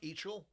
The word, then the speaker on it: Eichel: It's Eichel? Oh, it's pronounced Eichel.